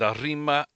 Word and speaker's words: Arima Kinen: But Nakayama, mile 4, 110 yard, Arima.